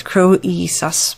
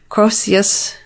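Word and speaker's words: Croesus: to pronounce this and i'm going to say it's croissus but i may not be right on that the nft's divisor named after the famous wealthy king of lydia crocius the crossius nfts is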